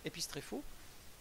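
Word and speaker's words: ἐπιστρέφω: grec qui est utilisé, épistréphos, je n'ai pas mis la prononciation, mais c'est épistréphos, qui veut dire se retourner ou faire demi-tour, un retournement sur soi-même.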